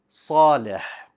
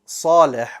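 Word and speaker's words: صالح: Salim, that's a seen. Salih, right? You can hear the sad. If I pronounced salih with a seen, it would have been salih, but that's incorrect. Salih, all right?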